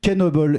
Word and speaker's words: Knoebels: au 17e siècle donc certains noms se prononcent avec le K et pas comme une